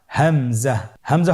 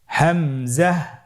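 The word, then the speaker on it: همزة: হামজা পরবর্তী হরফটির নাম হামজা হামজা হরফটি উচ্চারণের ক্ষেত্রেও বারিক করে উচ্চারণ করতে হবে এবং এখানে টেনে পড়া যাবে না দ্রুত পড়তে হবে আপনারা আমার সাথে বলুন হামজা জাহ হামজাহ হামজা হরফটি উচ্চারণের স্থান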